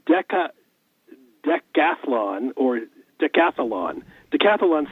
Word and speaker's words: decathlon: or decathlon I think Decathlon it's easier to say to catalan than decathlon but that comes from the greek and it's Athlon is the contest and then deca is ten but trying to say